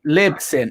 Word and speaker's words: Libsyn: How do you spell that? LYPSYN. Lips. LYPSYN. Yeah. Have I got it right? Sorry, 1 second. Sorry, Libsyn.